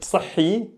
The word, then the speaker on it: صحي: Okay, صحي وصحيح. صحي وصحيح. Here it's just the shadda. Yeah, you need to focus on the shadda. Again, the emphasis. I'm not saying صحي. I'm saying صحي. This is healthy.